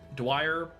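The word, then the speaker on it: Dwyer: Dwire like drier but but Dwire Wildfire Dwire Dwire. We do a hard pronunciation on the D.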